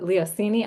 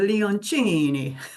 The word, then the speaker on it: Leoncini: I am so excited to be here with Cassandra Leoncini. I should have asked you did I pronounce that right?